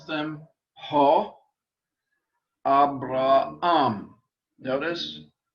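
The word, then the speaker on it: Ἀβραάμ: Abraham. Notice the accent on the last syllable. Abraham.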